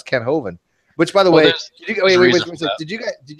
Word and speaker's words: Hovind: better English and Ronnie HOV Vine how do you get HOV Vine out of hovind again it's it's it's